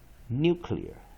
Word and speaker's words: nuclear: is new ok you have new clear a nuclear again one more time well if oh man struck men stress and first syllable therefore of vow before in the par